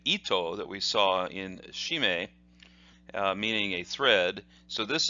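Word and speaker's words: 絞め: or a choke so the way this is pronounced is as follows she may she may and that means are that is the the way that this character is pronounced however sometimes in Japanese you will see it pronounced this way G may G may so sometimes you might see something for instance one of the techniques that we'll see in the next video hidaka G may is pronounced that way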